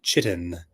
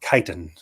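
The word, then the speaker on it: chitin: a certain kind of chitt uh or kiten uh I guess is probably how it's actually pronounced kitan um uh chi t i n I believe it's actually kiten but I always say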